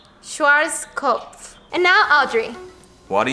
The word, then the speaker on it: Schwarzkopf: And how do you say it correctly? Schwarzkopf.